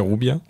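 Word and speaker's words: Juvia: moi j'ai toujours lu Jubia ou Jubia, donc c'est Rubia. Moi Alors ça c'est une vraie réponse comme chez Zeb, je le prononce à l'espagnol puisque le personnage c'était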